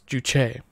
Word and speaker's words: Juche: yeah okay never mind it's showing the primary accent on the second syllable yeah so it's juche i hear the cat